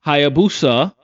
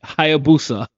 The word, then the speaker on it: Hayabusa: shoes of Kenji, a young ninja from the Hayabusa. Hi, yeah, I said it right. Hayabusa.